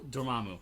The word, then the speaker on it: Dormammu: So when they pronounce him in the movies, and that's the actual way to pronounce it, but in my head, I'm going to sit back and be like, I know I'm wrong, but I'm stubborn, and it will always be the way I read it.